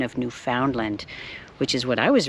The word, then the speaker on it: Newfoundland: A couple of little tidbits he shared with me regarding Newfoundland. He asked me, you know, how to pronounce the place I am, and I said Newfoundland.